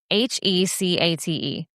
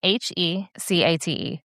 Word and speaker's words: Hecate: Hecate. Say it again. Hecate.